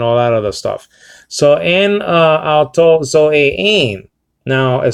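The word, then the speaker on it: ἡ: So en auto zoe ein. Now it says and, okay, the, or kai hey is a feminine article. It would be pronounced e nowadays.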